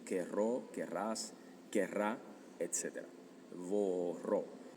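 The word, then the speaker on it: vorrò: Vorró. Muy importante el hecho de que sea con la vi o bu. Labiodental. Labiodental. Vro, vro, etcétera, porque también tienes bere, que es beber.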